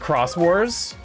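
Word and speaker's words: Xros Wars: It's pronounced crosswarss.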